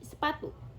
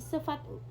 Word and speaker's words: sepatu: jika diucapkan cepat seperti sepatu. Sepatu itu terdengar seperti sefatu. Sefatu, padahal harusnya sepatu. Kalau lembaga kan sepatu, cuma kalau cepatnya di sefatu, seperti itu.